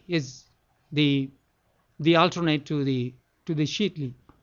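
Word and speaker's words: Sheetali: Shitli. Shitli, or here in America, I pronounce it Shitali.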